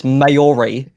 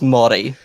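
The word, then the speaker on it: Māori: One time you pronounce the indigenous word mi as mayori. You said mayori. It is pronounced mi.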